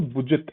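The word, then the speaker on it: bougette: शब्द था जिसको आप अगर फ्रेंच की प्रोनाउंसिएशन देखेंगे तो बुजट ऐसे करके इसको जो है प्रोनाउंस करते हैं।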